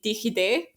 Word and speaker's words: DigiD: use it every day it's called dgd or the Dutch say digide um it's basically a